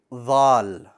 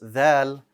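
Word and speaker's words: ذال: pronounce a proper val you need to extend your tongue to where the bottom of your front two teeth how does the vel look in a word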